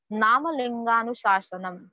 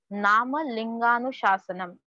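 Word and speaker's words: नामलिङ्गानुशासनम्: Further, we have one more name for Amarkosh, that is, please see the pronunciation, Namalinganuशासनम. Namalinganuशासनम.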